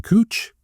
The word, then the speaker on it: Couch: It's spelled couch, but the person pronounced their name Cooch. So it's Cooch Street. It's not Couch Street.